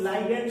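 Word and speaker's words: ligand: इसका प्रोनाउंसिएशन अलग अलग तरह से है, कुछ लोग लाइगैंड कहते हैं, कुछ लोग लिगैंड कहते हैं।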